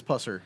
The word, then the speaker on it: Pusser: The mo the story the movies are based off the death of Pauline Puser. Is that how you pronounce it? Or is it Pusser? I believe it's Pusser.